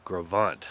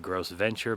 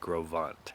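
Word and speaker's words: Gros Ventre: where we are right now which is called grovant looks like gross Venture but is pronounced grovant but there are some other campgrounds that are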